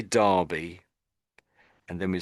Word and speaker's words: Derby: Just say Derby. Derby. Yeah. Derby. So in my mind I tend to think as if that's an A.